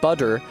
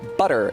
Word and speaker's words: butter: It's not a D, it's not butter, it's an alveolar tap, butter. It's actually the same sound that is represented by the letter R in Japanese.